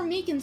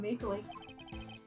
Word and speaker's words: Meekins: that shoot actually officer meekins at the detention center told us ah that poor little doggy poor guy keep getting his name wrong calling him meekly he told us something